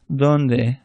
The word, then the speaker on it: donde: So the best comparison is a TH without all the extra air. But just don't say it like an English D, because then it sounds like a Spanish R.